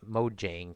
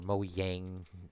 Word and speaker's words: Mojang: But Minecraft before Microsoft took it over, Notch and the Mojang crew, or Mojang, depending which pronunciation you use.